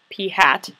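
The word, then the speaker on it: p̂: So it's the lowercase letter P with a little hat on it, and you would actually pronounce that P hat.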